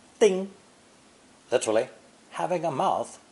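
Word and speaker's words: 叮: First tone, ding, literally having a mouth like a nail.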